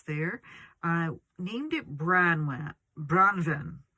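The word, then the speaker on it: Branwen: i named it bran branven is how you pronounce it and that is wealth a welsh name for fair raven so it's actually a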